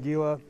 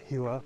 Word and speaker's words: Gila: look at that anybody that wants to make fun of me for pronouncing it giwa go ahead it might actually be pronounced Gila but whatever also this